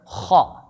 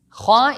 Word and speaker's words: خ: Kha is also one of the letters that doesn't have a counterpart in English. Non-Arabic speakers usually pronounce it with a sound similar to the letter K.